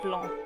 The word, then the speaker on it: blanc: I guess you wouldn't pronounce the NC if you were actually speaking French. It's like Blanc.